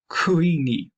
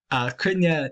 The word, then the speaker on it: Cruithne: 3,753 Kini, or Kunya. Kunya, if you want to pronounce it in modern Irish, it would have been